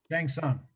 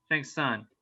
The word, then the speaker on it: Shang Tsung: with like this shot of how do you pronounce the bad guy's name? Shang Tsung. Shang Tsung.